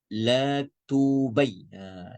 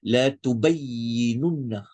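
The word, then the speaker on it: لتبيننه: Wa idh akhadhallahu mithaqal ladzina utul kitab la tunab la tubay. Ni kalau tak hati-hati ni boleh salah ni kalau laju ni. Bacanya la tubayyinunna.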